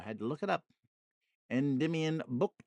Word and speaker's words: Endymion: Endymion, Book 2 by John Keats.